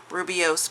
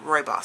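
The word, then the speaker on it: rooibos: some people pronounce it rubios but I've always just heard the tea lady saying Roy boss so that's how I pronounce it but this is a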